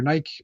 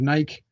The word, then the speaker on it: Nike: I took Greek. It's Nike. I promise. All right. Uh LEGO has officially revealed the next set of uh their next set in their multi-year partnership with Nike.